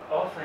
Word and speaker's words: often: I sound so happy is it often or often often is the correct way to say the Australian s often